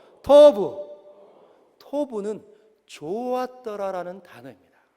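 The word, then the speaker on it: טוֹב: 그래서 이렇게 생긴 건 T자, T 발음이에요. 그리고 이렇게 해서 점 찍어 있는 건 O 발음. 그리고 여기에 그 같이 생긴 그거는 V 발음. 그래서 토브. 한번 따라해요. 토브. 토브.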